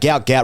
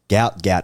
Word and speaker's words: Gout Gout: My understanding is that he has said, despite his father saying he wants to be called Gout Gout, Gout has said, I would prefer to be called Gout Gout.